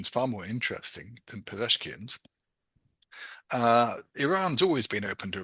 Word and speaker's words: Pezeshkian: I'm tempted to say Pezeshkian, but I'm mangling it. Pez. Oh, I can't even find it. Can we Iran's president or whatever? Yeah. Some Ah, Bezeshkian. Pezeshkian. I can't pronounce it right. There we go.